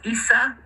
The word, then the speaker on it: Isa: You know who's Isa? Esau. Which is Isa. Yeah, that's Jesus in his own Aramaic language. Also in Arabic, that's how you pronounce it.